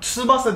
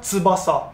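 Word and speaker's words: 翼: Tsubasa diyorsunuz ama aslında Tsubasa Japonca'da. Ha, Tsubasa. Tsubasa. Tsubasa.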